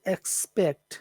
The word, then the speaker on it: expect: Which syllable is special in that word? Expect. Pect. Pecked. Pecked or spect. Probably spect. But there's no S there. You can't, the S is invisible.